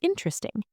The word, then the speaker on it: interesting: Photography is interesting. The stress is on tog. Photography. The stress is on in. Interesting.